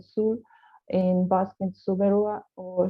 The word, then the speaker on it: Soule: So it's spoken in Sul, it's pronounced in Sul, in Basque in Suberua or Shiberua, historical province.